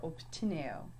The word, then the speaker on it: obtineo: Ps. Ps. Notice this has more of a P sound than the B sound. So think about the word urbs and obtineo. So pt for obtineo.